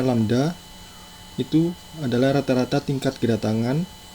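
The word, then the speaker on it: λ: M sama dengan jumlah jalur yang dibuka, dan simbol yang seperti Y terbalik ini bacanya lambda, itu adalah rata-rata tingkat kedatangan, dan simbol yang seperti U ini bacanya mu.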